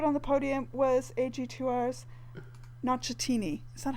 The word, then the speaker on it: Nocentini: And third on the podium was AG2R's Nocentini. Is that how you pronounce it? Mm-hmm. Yeah. Nocentini, yeah.